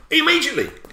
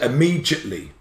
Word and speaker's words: immediately: Immediately. That's immediate. Five syllables. But people say immediately.